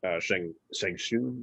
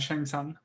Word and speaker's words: Shang Tsung: And they showed him going through the years as Shang Shun, is that how you say it? Shang Tsung.